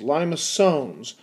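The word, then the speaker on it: limaçon: if we talk about lios liones is how you pronounce that you get everything from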